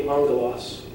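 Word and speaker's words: ἄγγελος: When that happens, the first gamma is pronounced like an N. That's how you get the sound. So example would be angelos. G would be if you were sounding it out, but because of the gamma nasal, you go elos. And that's angel.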